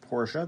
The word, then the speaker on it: Porsche: It is pronounced Porsche.